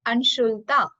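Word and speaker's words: अंशुलता: And third one is Anshulta. Anshul plus ta.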